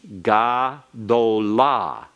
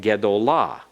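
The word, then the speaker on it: גְּדוֹלָה: But ga is the third syllable back from the accented syllable. Therefore, it will have to be shortened so that what you would expect to be the comments that you see in gadol changes to a schwa in gedolah because of that rule.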